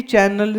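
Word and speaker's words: chi: को इसी एनर्जी को ची बोलते सी आय बट इट इ प्रोनाउंस ची एनर्जी एक्यूपंक्चर एक्यूप्रेशर उन्हीं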